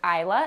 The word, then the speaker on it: Isla: So the name is Isla.